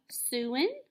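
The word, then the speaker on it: Siouan: what language they speak they speak the suin or the su however you may hear it pronounced okay and the last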